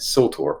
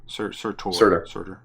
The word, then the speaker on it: Surtur: And the dude at the end, Surtur. I always get his name wrong. Surtur. Surtur. Like sulfur.